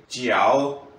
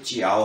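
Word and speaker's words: 叫: कि वा च च जिओ लुना च वेरी गुड माशाला से लेकिन जो मैंने सुना उसम जे की आवाज को आप जिओ पढ़ रहे थे ये जाओ नहीं है ये चिओ है रिवाइज कर लेते हैं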